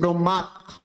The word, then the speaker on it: ব্রহ্মা: যে বিষয়টা বলেছিলাম যে যখন এই নসিক্য বর্ণের সাথে যখন হ যুক্ত হবে তখন হয়ের উচ্চারণ পরে করতে হবে। তাহলে আমরা দেখতে পাচ্ছি যে ব্রহ্মা ব্রহ্মাবলী বিষয়টা একটু আবার শুনুন।